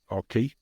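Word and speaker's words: CocoCay: But now when you look at things like Perfect Day at Coco Cay, Mm-hmm. Okay. that, or Key, depending which way you want to pronounce it, that particular day, there's a huge amount of expense to that.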